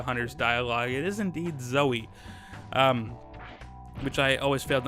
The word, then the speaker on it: Zoe: do data by the way that is the pronunciation for Zoey is that even though it's spelled zou and there's not a y at the end it according to hunters dialogue it is indeed Zoey which I always fail to understand as a